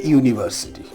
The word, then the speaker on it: university: Remember, A is used before such vowels that sound like U, Y-O-U, or in some books it is written Y-U. Remember the sound. You can pronounce these words and you can understand on your own why they are so and why A should be used. Just have a look at the word A university, A European.